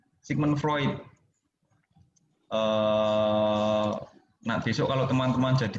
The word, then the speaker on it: Freud: Ini bacanya Sigmund Freud.